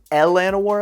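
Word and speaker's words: Llanowar: which by the way the technical way to say Lannow Elves is Elanowar Elves. If we're going to follow Dungeons and Dragons pronunciation from the original TSR novels, I'm just saying these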